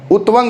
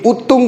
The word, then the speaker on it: उत्तुंग: उत्वंग होता है कि उत्तुंग होता है, बात समझिए, बताइए। उत्वंग लिखा है बट होता क्या उत्तुंग।